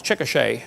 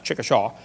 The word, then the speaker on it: Chickasha: it 2005 textbook and I pronounced it wrong as Chickasha that's Chickasha Chickasha Oklahoma I got corrected during